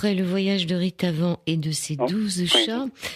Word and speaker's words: Ritavan: Ça s'écrit « Ritavan », mais ça se prononce en sanscrit, parce que c'est un nom indien, hindou.